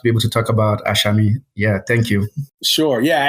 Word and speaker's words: Asami: I should say it's it's spelled ASI but it sounds like there's an H there between the with the S so it's like aami T's so but listen